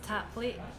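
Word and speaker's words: tapadh leat: So the way that you pronounce it, which means thank you in Gaelic, is tap late. So yeah, in Gaelic they add Tap late. they add on a lot of letters that you never.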